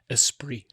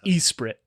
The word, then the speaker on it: Esprit: And in that podcast, you realized that for 35 years, you've been mispronouncing the 90s era activewear brand Espri as Esprit.